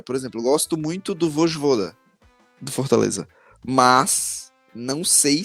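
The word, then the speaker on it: Vojvoda: Por exemplo, gosto muito do Vosjvoda do Fortaleza, mas não sei se ele seria o técnico ideal para quem?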